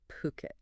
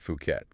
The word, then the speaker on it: Phuket: today really is to unpack why why is Puket's luxury property market attracting so much foreign interest right now. We're leaning on the insights from Ocean Worldwide. And just to be clear for everyone listening, it's pronounced Puket.